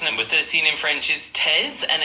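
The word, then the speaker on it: treize: Number 13 in French is TZ and it's spelled T R E I Z E.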